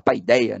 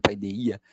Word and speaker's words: paideia: paideia costuma-se falar né aqui a gente fala paideia né a brasileira a pronúncia mas o pronúncia Grega tem essa ênfase no i paideia o o a paideia